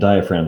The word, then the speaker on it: diaphragm: your lungs here and diaphragm is a fun word to spell it looks like diaphragm for some reason the g is silent again i don't know why